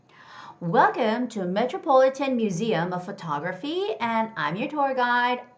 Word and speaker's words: photography: The word photography has the second syllable stress. It's photography, photography, photography, okay?